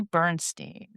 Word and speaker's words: Bernstein: Tonight we are joined by Amy Bernstein. Hi Amy, I sure hope I pronounced your last name correct. You got it. Got it right.